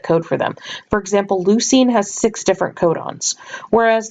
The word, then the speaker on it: leucine: cysteine just a note all of these terms like the names of the different nitrogen bases or the names of these amino acids all tender rhyme with the word scene or team so for example you